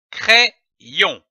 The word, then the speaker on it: crayon: Lorsque l'Y est placé entre deux voyelles, il se prononce comme un double I.